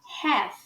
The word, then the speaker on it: half: A gente fala half. Again, half. Perceba que a palavra está escrita com A, mas a gente pronuncia E.